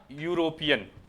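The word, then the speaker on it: European: कैसे, जैसे ई है, ई वोवेल है, लेकिन ये जो साउंड है वो कैसी देगा, यूरोपियन, यूरोपियन है ई, यूरोपियन इसका प्रोनाउंसिएशन बन रहा है। इसमें जो फर्स्ट लेटर है ये, फर्स्ट लेटर क्या है इसमें, ये हमारा क्या है, कॉन्सोनेंट साउंड।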